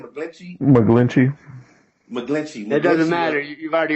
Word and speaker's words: McGlinchey: McGlinchey.